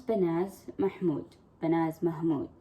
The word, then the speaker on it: Banaz Mahmod: get to know bananas her name was benaz mahamud is the other way to pronounce it she was a beautiful